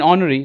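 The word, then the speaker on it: honorary: जगह आप देख लीजिए एच साइलेंट आ रहा है कहां पे हनरी में I mean ऑनरी नॉट हनरी वी नॉट यूज H here so इट्स ऑनरी एंड ऑनरियम यहां पे एच नहीं बोलेंगे अपन हनरी या नरियम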